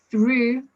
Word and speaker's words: through: Now, through has an U sound, thorough has an O sound, enough has an UF sound.